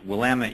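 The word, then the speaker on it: Willamette: correct you really quick it's wamit University which no one outside of the state of Oregon um ever pronounces correctly so if you ever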